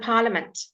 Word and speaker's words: parliament: Business and parliament. Okay, so your silent letter I, business and parliament.